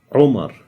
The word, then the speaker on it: Umar: name is umar now the name umar everybody says omar with like with an o in english the actual way to pronounce it is romar rou let's see how